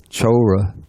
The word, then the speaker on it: chora: The word used in Pali is chora. I remember last time we had some trouble with this. Let's see. The C in Pali, it's always pronounced like CH, ch.